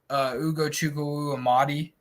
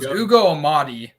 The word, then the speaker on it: Ugo Amadi: No, it's Ugo. It's Ugo Amadi, but it's Ugo Chukwu. Ugo Amadi.